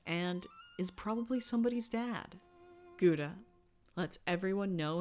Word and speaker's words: gouda: is probably somebody's dad gouda lets everyone know it's actually pronounced gauda does know the best